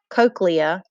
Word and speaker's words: cochlea: you have the spiral shaped cochlea this is pronounced cochlea it's filled with fluid and it vibrates as